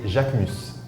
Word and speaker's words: Jacquemus: We like remove the S at the end, but the pronunciation is Jacquemus.